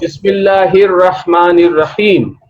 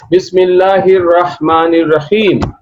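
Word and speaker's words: بِسْمِ اللَّهِ الرَّحْمَٰنِ الرَّحِيمِ: So whenever it is preceded by a word or a letter, then Hamza will not be pronounced, and we pronounce it Bismillahir Rahmanir Rahim. Bismillahir Rahmanir Rahim. Bismillahir Rahmanir Rahim.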